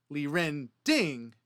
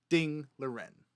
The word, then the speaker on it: Ding Liren: last name comes from, they pronounce their last name first. So, instead of Liren Ding, you would pronounce his name Ding Liren.